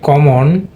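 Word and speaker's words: common: দেখো কম আমরা বলি কমন কিন্তু এটা কিন্তু উচ্চারণটা হবে কমান কমান এটা কিন্তু শোয়া সাউন্ড এই যে ও এন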